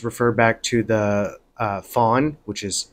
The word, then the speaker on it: Fang: back to the uh Fawn which is it's spelled Fang f-a-n-g but it's pronounced Fawn tribe of West Africa